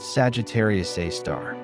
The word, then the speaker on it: Sagittarius A*: At the exact center of the Milky Way, astronomers discovered a dark titan, a supermassive black hole known as Sagittarius A*, pronounced Sagittarius A star.